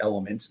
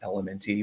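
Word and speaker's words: LMNT: elements drink element um it's pronounced elements not elementy but I spell it out so people know what I'm talking about um electrolytes uh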